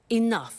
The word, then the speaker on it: enough: doesn't have enough money now this word enough enough it's written e n o u G H the pronunciation is enough what does it mean let